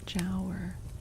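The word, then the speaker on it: Giaour: diapers ad before I can hear how it's pronounced. Hold on. Okay. Oh my god, that was so loud. Jower.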